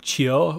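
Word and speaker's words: Qiu: Q-I-U. It's like Chio or something like that is how the audiobook pronounces it.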